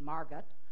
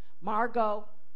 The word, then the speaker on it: Margot: elected is named Margaux but the Swedes oftentimes pronounce the T Margot Margot I'm